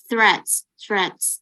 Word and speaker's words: threats: TH, biasanya kalau TNH ya, itu dibacanya agak gitu kayak ular, snake. Jadi threats.